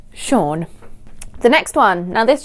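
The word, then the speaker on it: Sean: majority of my childhood thought that this was pronounced as scene scene so you know the actor sha bean I thought he was seen Bean but yes it should be pronounced sha the next one now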